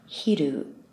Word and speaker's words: 昼: of the day and that's midday pronounced in Japanese hiru and finally we can